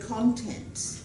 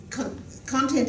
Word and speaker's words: content: something the content and the accent would be more on the content content content is being